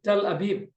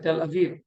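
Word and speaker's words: Tel Aviv: this tell that so this is tell abib or in modern pronunciation tell aiv the number one city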